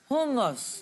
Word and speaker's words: Hummus: Hummus.